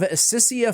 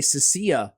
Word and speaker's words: Sicia: well today we have sisia flame tongue AKA CIA flame tongue I've heard content creators pronounce the name both ways I say sisia CIA uh we have Claudia